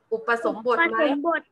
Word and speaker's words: อุปสมบท: การ ทาน อะไร คะ อ่าน ว่า อะไร เอ่ย คำ นี้ อุ ปะ ไร คะ อุปสมบท ถูก ต้อง ค่ะ ศาสนา พุทธ นะ คะ